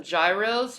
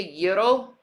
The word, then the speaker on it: gyros: we all want some Gyros hell yeah man I'll take some Gyros hot Greek gyros I'll take a Euro Euro I'll say it correctly yellow with some of that